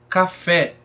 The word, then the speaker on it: café: Café, olha aí, ó, café, né? Sílaba tônica é o fé, então oxítona também. Olha como ela se prolonga.